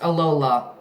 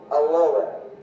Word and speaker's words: Alola: Yes, it is pronounced Alola. Alola. Yeah, kind of like Aloha, but Alola.